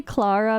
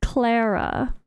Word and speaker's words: Clara: have to say Clara I want to say Clara because of how it's spelled but the way they pronounce it is Clara Clara all right when you